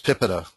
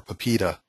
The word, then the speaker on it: PIPEDA: And in Canada, there's PIPEDA, or PIPEDA, depending on how you like to pronounce it.